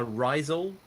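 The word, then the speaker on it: Rhizal: Uh Risel, I think it's pronounced, but it's R H I Z A L.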